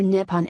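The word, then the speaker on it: 日本: The Japanese word for Japan is Kama, which is pronounced Nihon or Nippon and literally means the origin of the sun.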